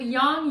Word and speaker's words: yang: of that beautiful Chinese symbol begin and the young signer some people pronounce it as yang it's technically pronounced young where it's that black